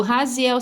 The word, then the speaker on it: Raziel: O Raziel se pronuncia Raziel em latim.